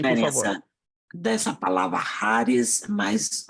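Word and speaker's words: χάρις: Não charis. Lembre-se que esta é a letra I, desenhada como um X no grego, mas a pronúncia dela é Haris.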